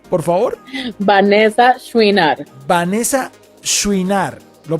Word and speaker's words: Chouinard: tu apellido Cómo se pronuncia por favor Vanessa shinar Vanessa shinar lo pronuncié bien perfecto ya eres muy bien Vanessa